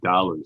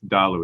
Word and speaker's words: Dalu: The Thalu is a very important story to them. And it's actually Dalu, sorry, I always mispronounce it. It's Dalu is the way to pronounce it.